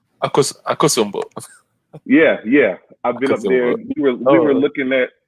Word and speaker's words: Akosombo: And I've also been up to the Volta region, to the Volta Lake, to check to Lake Okasambo. I believe that's how you say it, Akasambo. Akosombo.